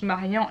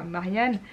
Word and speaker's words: Marian: Sauf que pour Maria, donc c'est Marian qui est une fille mais qui tient à ce qu'on prononce Marian et pas Marianne, je vous laisserai voir